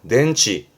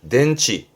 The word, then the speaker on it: 電池: 덴치 덴치 전기가 모여 있는 그 건전지의 전제였습니다.